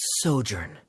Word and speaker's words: sojourn: everything clear uh director zosimos how do you pronounce this word let me see Ah that's sojourn it means to stay for a while this